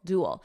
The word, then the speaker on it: duel: easier for me pogachar notice the pronunciation here dual duel when there's a duel